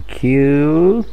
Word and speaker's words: Kew: El inusual robo ha tenido lugar en los reales jardines botánicos en Kew, que es como el final de la pronunciación de thank you.